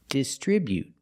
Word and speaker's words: distribute: like this is distri putting the stress on the second syllable distribute. We see the buu together making the sound bu not boo but distribute. Distribute with the t at the end after the vowel. You can make a stop t sound. distribute. You don't have to release the t. You can you can say distribute, but you don't have to.